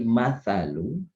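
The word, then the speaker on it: مَثَلُ: Tulisannya mislu itu hurufnya adalah mim, sa, dan lam. Mim, sa, dan lam. Maka dibaca mislu. Ketika Bapak Ibu bacanya bukan mislu tapi masalu, maka itu artinya perumpamaan.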